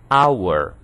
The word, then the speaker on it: hour: É o que acontece, por exemplo, com hour, H mudo. Hour. Percebam que o que nós ouvimos é o som de uma vogal, hour.